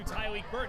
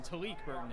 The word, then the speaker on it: Tyleek Burton: Excuse me on that pronunciation. Talik Burton is the correct pronunciation, from Houston, Texas.